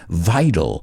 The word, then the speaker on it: vital: but we pronounce it vital vital vehicles remember americans often pronounce that t like a d vital vehicles and then